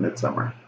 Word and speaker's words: Midsommar: It's spelled Midsommar, but, you know, I think you just pronounce it Midsommar.